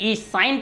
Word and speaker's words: sin: जैसे कि उसको मैं बोलूँगा SINE साइन, तो बहुत लोग उसको सीन भी पढ़ देते थे, जिससे कि आप लोगों का जो हमारे रेशियो है इसका प्रॉब्लम क्रिएट करता था।